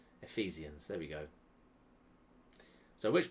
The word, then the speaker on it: Ephesians: I guess it's a soft PH, like an F. Ephesians.